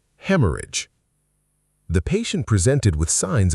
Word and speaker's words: haemorrhage: Haemorrhage. The ending is soft, not age like a page, idge. Haemorrhage. Hemorrhage.